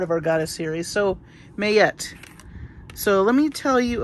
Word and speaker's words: Ma'at: believe in 2016 and I thought this was Maat but in the article it says it's pronounced mayet so right there I